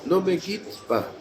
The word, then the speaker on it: ne me quitte pas: Ne me quitte pas. Non, Hein? on avait déjà parlé à la fois. Oui. En français, on ne prononce pas le E.